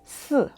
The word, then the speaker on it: 四: And the reason is because the pronunciation of the number 4 is quite similar to the pronunciation of death in Chinese. In Chinese, death is 死, but 4 is 四, right?